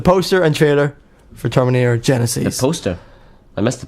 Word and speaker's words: Genisys: People, people are like, it's Genesis, but it's pronounced Genisys.